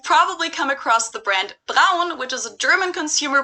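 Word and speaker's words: Braun: it turned out that americans and british people too actually pronounce this brand brawn or bro and brown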